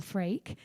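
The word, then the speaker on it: L'Freaq: would say this girl her name is freak so i think you pronounce it all freak and it's l apostrophe f-r-e-a-q i would highly recommend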